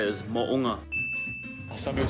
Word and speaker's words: Mo'unga: The proper way to say it is Mo'unga.